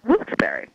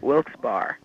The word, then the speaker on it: Wilkes-Barre: The name of the town is pronounced Wilkes-Barre. It was founded by two people. We had no idea. You know what we were walking around calling it? Wilkes-Barre.